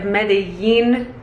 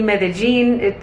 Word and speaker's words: Medellín: By the way, the pronunciation of Medellín, it can also be Medellín. I think it just depends on what accent you have, but I've kind of